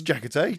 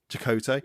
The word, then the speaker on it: Chakotay: Thanks, Jackote. Just Chakotay. I'm never going to say his name right, am I?